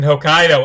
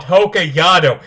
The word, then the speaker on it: Hokkaido: movie takes place in hokkaido and they call it hokayado every time and it annoys me like if you're going to adopt a movie set to japan at least pronounce the place name right but whatever whatever before